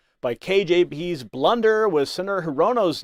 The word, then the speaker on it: Hirono: Her pronunciation of Hirino instead of Mazie Hirono has fueled claims of incompetence within the Biden administration.